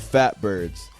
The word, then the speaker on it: PHATBIRDS: It is spelled PHATBIRDS. It is called Fatbirds.